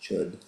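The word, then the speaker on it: Chöd: This chapter is a practice called Chud, even though it's spelled C-H-O at the umlaut, it's pronounced Chud.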